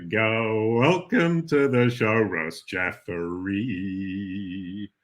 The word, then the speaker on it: Jeffery: welcome to the charos jeffrey rhymes with referee just thought that um